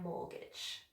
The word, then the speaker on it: mortgage: I've nearly paid off my mortgage.